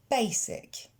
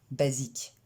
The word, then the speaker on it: basic: Basic. Et non basique. Basic.